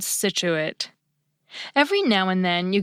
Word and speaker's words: Scituate: And a very few words make it sound just like S, science, rescind, descent, and the Massachusetts coastal town called Scituate.